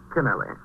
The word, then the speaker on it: Canelli: about Captain canelli oh how do you pronounce it canelli or kenelly canelli is it Mrs Conwood